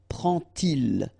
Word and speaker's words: prend-il: to show you that you won't pronounce it like D to make the liaison, but you will pronounce it like T. And so you will get prend-il, prend-il, okay?